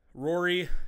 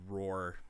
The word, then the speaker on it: RORRE: So, RORRE is just like the word backwards, and we decided to pronounce it like that because roar didn't really feel that good. So we went with RORRE.